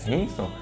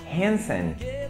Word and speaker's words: Hanson: Que é a banda que todo mundo chama de Hanson, né? Hanson. Mas, na verdade, a pronúncia é Hanson.